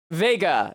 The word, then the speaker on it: Vega: Uh, Vega. It took me many tries to read that. I kept wanting to pronounce it like Vegeta.